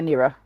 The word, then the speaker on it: Naira: saying it right naira is it naira or nirra uh either one I say naira though naira thank you naira